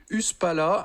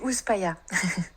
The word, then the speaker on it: Uspala: créatrice de l'entreprise cosmétique Uspala installée à Peros Grek. Bonjour Marion. Bonjour. Bonjour à tout le monde. Non, je crois que vous prononcez pas uspala mais d'une autre manière. On dit USPaya.